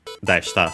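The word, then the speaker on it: でした: Deshta, so yeah, the accent on the de, by the way.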